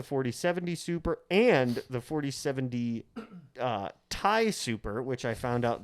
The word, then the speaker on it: Ti: human history has pronounced TI. Yes. Yeah. And according to like patents, there's a reason they can't technically call it TI. So you're supposed to pronounce it Ti, as in titanium.